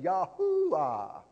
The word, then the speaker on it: Yahuwah: is jehovah he is yahweh he is yahuwah yahuwah trying to get it right yahuwah he is yahuwah everybody say yahuwah that's the actual pronunciation of the unable name of god or yahaweh amen yahuwah